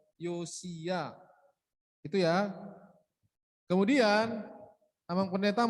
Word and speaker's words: Yosia: Tadi si Audi bacanya Yosua, bukan Yosua ya, Yosia.